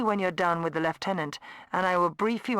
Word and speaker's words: lieutenant: Like I thought you pronounce it lieutenant, not left tenant.